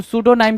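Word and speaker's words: pseudonym: तो सूडोनाइम क्या होता है? पी एस ई यू डी ओ एन आई एन वाई एम। सूडोनाइम में पी आपका साइलेंट होता है।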